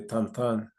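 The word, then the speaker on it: Tintin: especialmente las aventuras de tantan que se escribe tinín no un chico que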